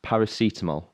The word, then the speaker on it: paracetamol: i don't know who colin is it's pronounced paracetamol okay so we were all right last week